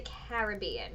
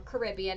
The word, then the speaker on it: Caribbean: Everything that at least forms this week, the track is going to be Atlantic to Caribbean, or Caribbean, however you pronounce it. I know you can say it both ways.